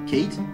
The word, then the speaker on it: Kate: Si vous avez dit que le A dans cat a une prononciation tendue, eh bien, vous avez tout faux. Oui, puisque en effet, dans cat, le A a une prononciation relâchée. Tandis que dans Kate, forcément, il a une prononciation tendue. Pour faire la distinction entre